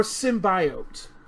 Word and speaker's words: symbiote: Larry, is it symbiote or symbiote? It is symbiote. Any other pronunciation is wrong and jarring.